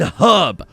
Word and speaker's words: herb: There is an H in herb.